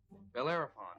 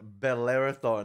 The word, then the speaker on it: Bellerophon: Bellerophon Estates, home to the rich and paranoid. Wait. Why did he pronounce it Bellerothon? Like, it sounds like Bel Air in LA.